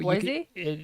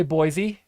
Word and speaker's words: Boise: So Boise? Most people will say Boise, and you will get corrected. It's Boise. It's very specific.